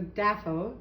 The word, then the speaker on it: DAFO: It is the DAFO, Deluxe Air Fryer and Oven.